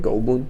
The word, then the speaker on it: Goldblum: Goldblum?